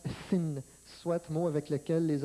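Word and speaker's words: שׂ: Aussitôt que le point est envoyé à gauche, le H disparaît et se prononce Sin, soit mot avec lequel les Anglais ont fait le mal, le péché.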